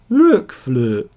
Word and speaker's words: RokFlote: RokFlote.